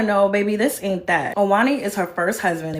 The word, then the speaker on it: Ojani: Her ex-husband, Ojani, or Ani, depending on how you pronunciate, popped in and let her know, baby, this ain't that. Owani is her first husband.